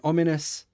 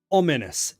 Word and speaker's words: ominous: Ominous. The stress on the first syllable.